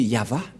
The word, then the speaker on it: Yahvah: droite à gauche mais la vraie lecture de ce terme c'est yava je vais vous apprendre